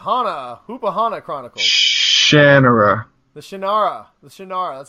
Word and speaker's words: Shannara: The Shannara, that's how you say it.